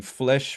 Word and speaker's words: Flesch: I thought it was Fleisch though. There's no I in it though. There isn't? No, no. Spell it again? Flesch. Oh, okay. I guess it is Right. Flesh.